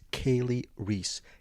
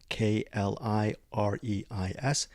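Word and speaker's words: Kali Reis: The lead actress, her name is KaliReis. KaliReis. KaliReis. I pronounce it Kali a couple of times because I'm an idiot.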